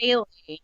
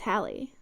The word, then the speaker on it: Halley: It's Halley. No, it's Halley. I think it's Halley's comet. I think there is a division in how you pronounce Halley or Haley.